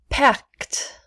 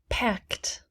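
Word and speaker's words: packed: pronounce tid tid weighted pact pact we do not pronounce the e pact sneezed sneezed we do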